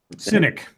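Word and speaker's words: Synik: Yeah, I need to double pronounce this one. It's S-Y-N-I-K. Is that Cynic? Cynic.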